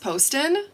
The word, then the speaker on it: Poston: Poston and or actually I found out it's pronounced Poston uh when I listen to the audiobook of